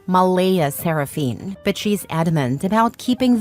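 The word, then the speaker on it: Mleigh Seraphynne: Claire insists it's pronounced Malaia Seraphine, but she's adamant about keeping the creative spelling because normal names are boring and my daughter deserves to stand out.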